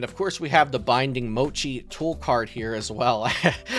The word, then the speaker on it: Binding Mochi: course we have The Binding Mochi tool card here as well I know people in the comments hate when I mispronounce cards it sometimes I call binding Moi but yes binding Mochi uh to increase the